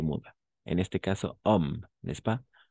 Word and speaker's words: homme: En este caso, homme, n'est-ce pas? Homme commence par une H muet.